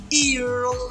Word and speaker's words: irun: Irun, you call it 2 times. Irun. So it's like 2 syllable.